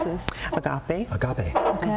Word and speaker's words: Agape: Agape. Agape. Okay. Like agape love.